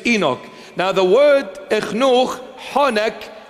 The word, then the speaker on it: Enoch: In English, the pronunciation is Enoch.